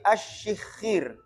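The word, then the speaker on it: الشِّخِّير: Makanya bacanya asyikhir. Bukan asyikhir, tapi asyikhir. Ada tasydidnya.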